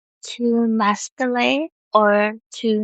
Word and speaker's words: Masquelet: to Masquelet, or to not Masquelet. I wanted to say Masquelet, but it is Masquelet.